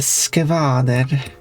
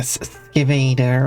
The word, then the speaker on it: skvader: and that is a skvader. Not like some people pronounce it like a skivader or something. It's a deep skvader.